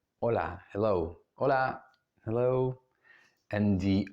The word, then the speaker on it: hola: don't do it okay we don't pronounce it it's it's mute so it's hola hola hello hola hello and